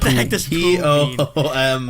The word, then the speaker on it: Poom: P-O-O-M. I don't know. Poom, it rhymes with doom.